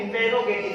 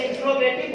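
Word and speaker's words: interrogative: Same इसी तरह थोड़ा सा हटते हैं इंटेरोगेटिव सेंटेंस। वैसे इंट्रोगेटिव बोलते हैं, लेकिन इसका जो सही उच्चारण है वो इंटेरोगेटिव होता है।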